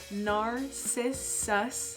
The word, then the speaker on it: Narcissus: So it's pronounced Narcissus.